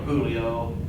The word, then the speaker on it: Julio: This is common in Spanish names like Jose or Julio, but it's pronounced like the H in Hussein.